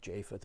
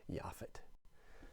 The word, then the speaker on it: Japheth: of shem hem and yafit yafit is spelled j-a-p-h-e-t it looks like japheth but it's it's pronounced yaffit now we've got to